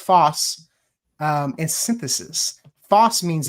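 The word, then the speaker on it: φῶς: So photosynthesis is derived from the Greek words fos or which is pronounced foss um and synthesis.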